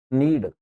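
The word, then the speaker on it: knead: ठीक है इधर देखिए जब एन के पहले के आ जाता है य साइलेंट होता है इनका उच्चारण एन से शुरू करेंगे नीड नाउ नाइफ नॉलेज है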